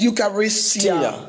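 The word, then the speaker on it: εὐχαριστία: So in Greek, it is pronounced Eucharistia.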